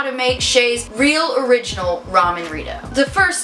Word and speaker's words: Chet: My name's Shay. It's spelled C-H-E-T, but it's not Chet, so don't call me that.